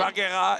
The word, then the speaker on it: Valkyrae: Yes, Valkyrae. Did I say it right? No, that's really good, really good. Valkyrae and Kokoti.